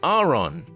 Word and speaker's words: Aron: the Grubbin, Shinx, and Aron lines. Now, I have forever been calling this Pokemon line the Aron, Laren, and Aron line, but apparently I was wrong. According to the anime, it's actually Aron.